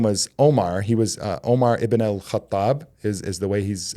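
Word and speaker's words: Umar ibn al-Khattab: He was uh Omar Iban al- Kathab is is the way he's uh pronounced in Arabic.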